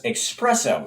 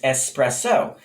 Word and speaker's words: espresso: as cappuccinos and lattes the mispronunciation most common with this word is in which an x sound is inserted giving us espresso it's ex it's espresso in fact the correct pronunciation is espresso the term espresso itself